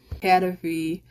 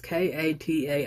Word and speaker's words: kataifi: crust topped with crispy cadafy and pistachio filling, a drizzle of pistachio cream, and a dollop of whipped cream on top. Pretty sure I pronounced that wrong, but it's Kataifi.